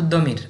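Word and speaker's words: ضمير: কিন্তু যেহেতু আমরা দতকে দ উচ্চারণ করার একটা প্রবণতা আমাদের দিকে আছে, আমরা অনেক সময় দমিরকে জমিরও বলে, তো এটা হচ্ছে মার্দি, মার্জি।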